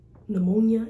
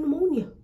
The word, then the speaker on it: pneumonia: It's giving, it's just like, you know how pneumonia is spelled with a P? What's the whole point of putting a P on pneumonia? Just leave the N and take away the P.